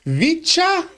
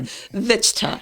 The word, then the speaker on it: Vichtcha: our Inside Lowell studios by our good friend Vicha. Did I pronounce that correctly? Close, Teddy, close. All right. Vichta.